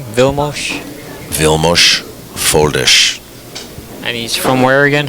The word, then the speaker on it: Foldes: So that's the correct pronunciation of his name, Vilmos? Vilmos Foldish.